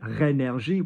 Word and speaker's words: rénergie: So if you look at the word rénergie, we've got R-E with an acute. So ré, not ren.